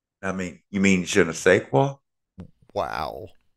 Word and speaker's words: je ne sais quoi: he tries to say, je ne sais quoi. I mean, you mean je ne sais quoi? Wow. I said the SAIS is pronounced say, not said. That's French.